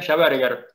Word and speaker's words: Schaberger: Bueno, mis apellidos son, bien pronunciados sería Schaberger, porque uno es alemán y el otro es francés. Pero acá, en la ciudad, el apellido es conocido como Schaberger, pero sería Schaberger en realidad.